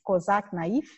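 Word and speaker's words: Cosac Naify: Companhia das Letras e Cosac Naif. Falei certo, gente? Cosac Naif? Sim, essa a pronúncia? É isso.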